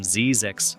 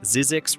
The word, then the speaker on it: Zzyzx: It's marked by a sign reading Zzyzx Road, and if you pronounce it correctly, Z-I-E-Z-X, you're doing better than